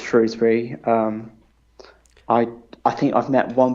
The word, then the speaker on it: Shrewsbury: Is that the accepted pronunciation of it? I know that there tends to be a bit of debate over that. Yeah, I'm pretty sure it's Shrewsbury.